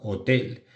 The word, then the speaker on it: hotel: Porque la H al principio suena como una J la mayoría de veces. Por eso decimos hotel para hotel.